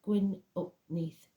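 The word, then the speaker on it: Gwyn ap Nudd: the hunt or even gwi uput pronounced GN up Neath King of the fairies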